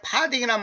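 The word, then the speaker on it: farthing: 그 여기서 파딩이란 말은 뭐냐면 어이 파싱이라고도 표현하는데 보통 파딩 이렇게 표 발음을 하는게 좋겠습니다.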